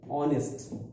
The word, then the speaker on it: honest: Okay, this H is silent, only we pronounce these three letters, our. So H is silent, and here also H is silent. Honest, so we don't have to pronounce H.